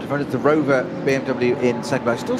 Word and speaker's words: Rover: Or Row, as people ordinarily call it, as English speakers, but Rover, as it's correctly pronounced in German. Nothing silent in German, as they say. That's right. So the white, yellow and black Rover BMW now heads down the hill on the Grand Prix Strecke.